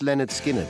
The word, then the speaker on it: Lynyrd Skynyrd: like that released on August 13th 1973 pronounced Leonard Skinner was an album that may never have existed